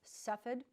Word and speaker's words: Cepheid: bear with me have fun with me but Cepheid is how it's pronounced and it's suffered expertise Express Kovac 19